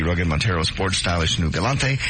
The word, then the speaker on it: Galant: And they just Galant? Galant. What'd I say? Galante. Oh, Galant. Go to your Mitsubishi dealer. They'll tell you how to pronounce that wonderful car as we play this wonderful game.